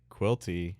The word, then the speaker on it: Quilty: Other little tidbit: Quilty rhymes with guilty.